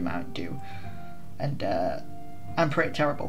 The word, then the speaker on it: Mountain Dew: people in england especially pronounce it mountain jew like d-e-w is apparently supposed to be like jew but it's not it's uh it's supposed to be mountain dew and uh i'm pretty